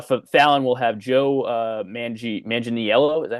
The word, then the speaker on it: Manganiello: And then for Fallon, we'll have Joe Manganiello.